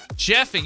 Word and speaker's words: Jeffing: The Washington Post just did a story on a running hack called Jeffing. So, what is Jeffing? Jeffing, it's spelled like the name Jeff Iing. Jeffing.